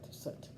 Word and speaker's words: soot: as black as soot foot soot that's a hard word for me to say when i see it spelled like that and this is the